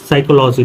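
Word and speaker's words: psychology: P silent होता है कभी भी एस से पहले प आ जाए तो प साइलेंट होता है देखो जैसे क्या दिया जाए साइकोलॉजी देखो एस से पहले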